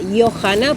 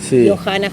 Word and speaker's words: Johanna: mi abuelo era danés, entonces sería Johanna, porque la J suena ahí, Johanna. Pero también tiene como una pronunciación también inglesa, que es Johanna, entonces bueno, ahí quedó Johanna.